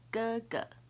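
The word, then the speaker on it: 哥: The pronunciation is ge. So it's a sound, but start with the g sound.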